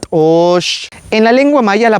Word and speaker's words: t'oox: No se dice tos, se dice tosh.